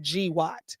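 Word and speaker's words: GWOT: So GW T equals global war on terrorism pronounced GWAT. Oh, okay. Now when I say it, I can sound like I'm intelligent. G Watt.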